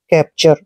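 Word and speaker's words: capture: यू आर ई को हमने चर पढ़ना है कैप्चर कैप्चर का मतलब होता है पकड़ या फिर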